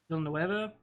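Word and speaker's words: Villeneuve: Villanueva, Yeah, that's how you say his name.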